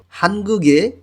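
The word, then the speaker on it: 한국의: হানগুগে কোরিয়ার গিয়কটা ইয়ংয়ের স্থানে গিয়ে উচ্চারণ হবে এবং উই যখন পার্টিকেল হিসেবে কোনো শব্দের শেষে বসে তখন উই উচ্চারণ না হয়ে এর মতন উচ্চারণ হবে। এখানে উচ্চারণ হবে হানগুগে মানে কোরিয়ার।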